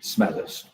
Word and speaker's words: Smethurst: you just told me your name when i pronounce it correctly please could you introduce yourself yes i am smithers what does the stand for nice